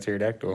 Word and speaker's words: pterodactyl: There's a silent P in front of pterodactyl.